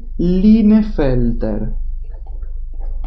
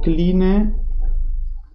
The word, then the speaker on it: Klinefelter: Y además tenemos, por ejemplo, una alteración cromosómica que se conoce con el síndrome de Klinefelter o Klinefelter. depende cómo lo quieran pronunciar, si pronuncian la K o no, Klinefelter o Klinefelter.